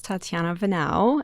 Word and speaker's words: Tatiana Venao: me for for everyone so my name is tatiana vanau and thank you for pronouncing that right because majority people really butchered